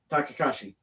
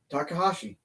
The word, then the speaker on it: Takahashi: Takashi. Yujiro Tanahashi? Takahashi.